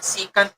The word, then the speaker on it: secant: Okay, this time, sir, secant yan, sir, secant x. Sir, hindi po nabibisaya. Si sir, ha? Ang tama pong pagbigkas po dyan ay secant.